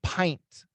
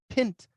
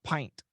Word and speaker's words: pint: should the pronunciation be should be short yeah but it's long we say pint a pint of beer so it says consonant vowel consonant constant constant vowel it should be pin pint nope it's pint okay